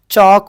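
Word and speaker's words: chalk: चौक बोल रहे, देखो अपन यहाँ पे क्या बोल रहे, चौक बोल रहे, तो अपने को यहाँ पे क्या आ जा, L साइलेंट आ जा रहा।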